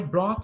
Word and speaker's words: brought: I brought some snacks. I brought some snacks. Repeat, brought. Brought. Brought. Brought. Então, I brought some snacks. Esse GH, ele é mudo, né? Aí fica brought.